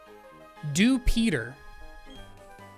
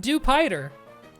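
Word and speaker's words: Dewpider: Think in your head how it's pronounced, right? Dupeter. Duper is how you pronounce it. Not Dupider.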